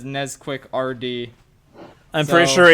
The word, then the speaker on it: Nesquik: Well, chocolate you've pronounced milk, it but wrong. that's It is Nesquik.